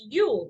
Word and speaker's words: Uhl: of Amanda Ewell and it's Uhl but pronounced Yule correct that is correct